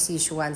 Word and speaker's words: Sze Chuan: Ong kanilang rest R ang tamang pronunciation daw nito ay si shuan sabi nila kasi yung